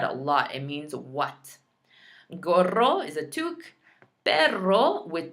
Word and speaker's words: gorro: So even if you come online and you say gorro, that's better than saying goro, right? I don't want to hear goro.